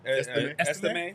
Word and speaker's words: Estime: Estime.